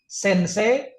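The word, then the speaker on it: 先生: Ini sensei, semse, atau sengse? Ini Sensei. sensei.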